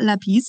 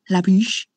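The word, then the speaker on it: lápis: Okay, I learned that this is pencil, lápiz. No, how to actually say it correctly. It's actually not lápiz, it's lápiz.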